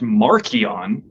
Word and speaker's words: Marcion: But Marcion's name would have been pronounced Markion back in the Roman Empire, which means little Mark.